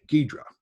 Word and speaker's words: Ghidra: and then i'm going to demonstrate the next gidra uh ghidra i've looked up how to pronounce it ghidra or nextgiver project which lets you see the